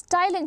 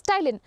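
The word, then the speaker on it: ptyalin: is also known as Tylin children what is it known as Tylin p is silent over there it is known as Tylin what does salivary Ames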